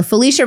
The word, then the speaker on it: Falisha: The biggest thing is my name is spelled a little funny. It's F A L I S H A. So Felicia, also known as your home girl.